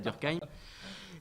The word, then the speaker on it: Durkheim: Alors, moi, je prononce Durkheim parce que je suis alsacien. Après, il y a d'autres façons de prononcer Durkheim.